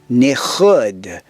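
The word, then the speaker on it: nikud: And vowels are also called nichud. You got that little guttural sound at the end.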